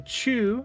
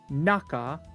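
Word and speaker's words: 中: So same kanji, the chu from chugoku is going to be pronounced naka for uchi no naka.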